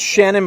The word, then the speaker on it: Seanan: It's spelled Seanan. But I think it's Shannon Maguire is how it's pronounced.